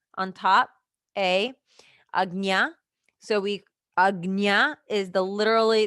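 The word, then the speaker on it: Ajna: So we Agna is the literally they literally spelled it out for you on how to pronounce it.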